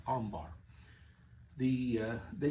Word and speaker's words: Ambhar: very interesting tequila now it's you see how it's spelled a m b h a r Omar the uh they call this a Plata which